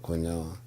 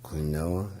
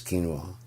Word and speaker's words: quinoa: Quinoa, you know, cuz it's spelled quinoa. I was like quinoa. It's quinoa.